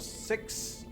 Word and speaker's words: Syx: Songs of Six, not Sticks, Six, is how to say this?